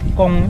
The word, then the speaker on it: Caen: Cuman ada organisasi namanya Perhimpunan Pelajar Indonesia Kong, cari aja di Instagram ada PPI Kong, tulisannya Caen, CAEN, bacanya Kong.